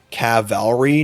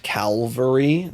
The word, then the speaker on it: cavalry: Cavalry, not Calvary. Listen. You're saying it wrong.